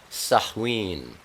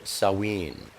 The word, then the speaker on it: Samhain: The god of death, pronounced Samhain, or Samhain, a holiday observed by the ancient Celts, a